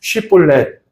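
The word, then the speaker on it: שיבולת: 우리 성도님들 한번 발음해 보도록 하겠습니다. 쉬볼렛 한번 해 보시기 바랍니다.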